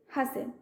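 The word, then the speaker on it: hasten: next question কোন রয়েছে read the following words and choose the later not pronounce in them হাসেন তো দেখো আমি ওয়ার্ড প্রোনাউন্স করেছে হাসেন তাহলে কোন লেটারটা আমার প্রোনাউন্স হও নাই অপশন হয়েছে এইচ এস টি এন তাহলে এটা কোনটা প্রোনাউন্স নাই টি এটা প্রোনাউন্স নাই তাহলে অপশন সি হচ্ছে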